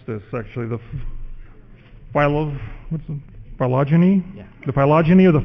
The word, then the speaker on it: phylogeny: How do you pronounce this, actually? Phylogeny?